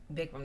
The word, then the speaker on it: Bikram: Am I pronouncing it right? Bikram. Bikram, that's right.